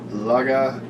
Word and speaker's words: Lagavulin: This is Lagavulin. Lagavulin. Lagavulin. I have fact checked that shit. I pronounced that fucking dead ass.